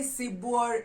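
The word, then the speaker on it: sibuor: the luau sebor sibour so when i say sibor is not c for cat it's c for s how do we spell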